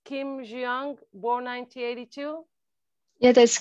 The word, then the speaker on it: Kim Hyejung: Hyejung, correct me if I'm not pronouncing it, but I think it's Kim Hyejung, born 1982.